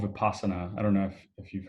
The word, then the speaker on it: Vipassana: How do you spell it? Vipassana, Vipassana.